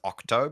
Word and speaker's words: OXTO: but one is called, I think it's pronounced Octo, but it's OXTO.